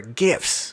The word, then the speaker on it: GIF: you can optimize your GIFs, or GIFs if you want to say it like a jerk. It's GIF, it's graphical interface, GIF.